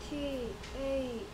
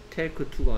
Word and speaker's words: talk to: T-A-L-K-T-O. Okay. Talk to. Talk to. L이 소리 안 납니다. Talk to. Talk to. Talk to. Speaking 좀 더 정확하게 해야 될 것 같은데요? Take to가 아니고요. Talk to.